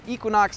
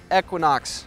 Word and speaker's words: Equinox: been reminded is pronounced Equinox, not Equinox, by my colleagues and readers. Sorry, I'm really working on this whole emphasis thing.